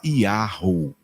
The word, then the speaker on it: YAHUH: se transformaram em yhwh se você quer saber como se fala yhwh se fala yahho é assim que a